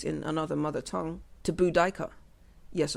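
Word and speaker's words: Boudica: another mother tongue to budika yes apparently we've been pronouncing budika wrong budika the iini queen of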